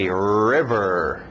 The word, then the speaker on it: river: nossos objetos vamos lá forte no R River River lembra exagera os RS no inglês River black black black